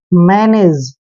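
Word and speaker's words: manage: देखिए एम का उच्चारण हम मैं करते हैं, ए को ए की मात्रा पढ़ते हैं, एन को हमने न लिखना है, ए को फिर से ए की मात्रा पढ़ेंगे और जी ई का उच्चारण जय करते हैं, मैनेज। मैनेज होता है दोस्तों इंतजाम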